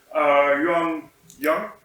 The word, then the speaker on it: Liu Jian: So we have from Delft University of Technology, Liu Jian. Did I pronounce that correctly?